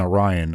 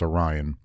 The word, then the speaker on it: Arrian: So the Roman historians like Plutarch and Arrian, I'm pretty sure that's how you pronounce his name. Arrian. I don't want to say Arian because I'm pretty sure that's not right.